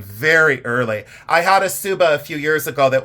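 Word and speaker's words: tsuba: spelled t s u ba a but it's pronounced subba you don't say tuuba you say subba the subba is that dissh shaped guard at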